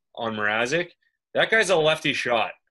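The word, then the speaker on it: Mrázek: I think how do you pronounce this guy's name? Mrazek.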